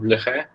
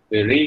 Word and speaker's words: Leray: Então, a primeira coisa que eu gostaria de citar aqui é um trabalho fundamental do Leray, ou Leray, se você for mais preferir a pronúncia americana.